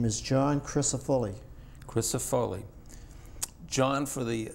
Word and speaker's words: Crisafulli: u l l i and it's pronounced Chris chrisop foly chrisop foly the way it's spelled Chris C R I